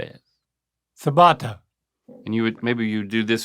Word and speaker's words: ciabatta: this one still edible sabata um maybe that's how I would have said it too but I do know that that's not right okay not no surprise